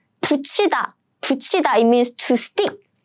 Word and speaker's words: 붙이다: So they should be combined as in 짠, 치. So let's pronounce this word together. 붙이다.